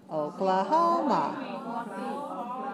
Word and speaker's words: Oklahoma: Oklahoma.